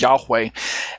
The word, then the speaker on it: Yahweh: as judd yh vh the tetragrammaton sometimes pronounces yahweh or hashem all right this is